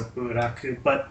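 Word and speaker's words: ブラック: So, you know, it's got that kind of the Japanese pronunciation of the English word black, so buraku.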